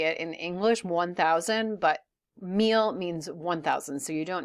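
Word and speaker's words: mil: habit for me so the correct way to say a thousand is meal it is not un meal and I just like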